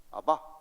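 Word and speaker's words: אבא: 아람어로 우리의 아빠와 똑같은 발음입니다. 아바.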